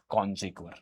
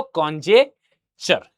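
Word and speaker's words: conjecture: कॉन्जेक्वर। क्या बोलते हैं उसको? कॉन्जेक्चर।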